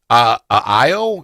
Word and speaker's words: Io: But then Coach put in Nas, Io. Is that how you pronounce it? Io? Yep, Io. Io.